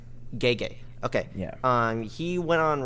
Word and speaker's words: Gege: Well, what's interesting about the similarities is the how do you pronounce the main author's name? Gege. Gege.